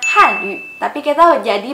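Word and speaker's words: 汉语: Itu tuh harusnya dibacanya nada 4 dan U-nya itu bukan U tapi U. Jadi yang depan itu Han, bukannya Han. Terus yang belakang itu bukannya Yu tapi Yu. Jadi dibacanya Han Yu.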